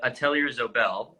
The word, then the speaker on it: Atelier Zobel: company as well, which is, and correct my pronunciation if I'm wrong here, but Atelier Zobel, is that Yeah, right?